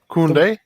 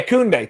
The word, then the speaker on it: Koundé: Koundé? Yeah, Koundé.